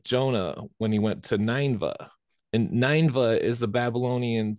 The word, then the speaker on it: Nineveh: when he went to ninva and ninva is a Babylonian city with a temple that the Temple of ninva was to Saturn uhuh so I've always heard it pronounced Nineveh is that what you're talking